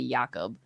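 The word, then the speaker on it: Jakob: you to but it's supposed to be yakob but like he doesn't mind Jacob what a what a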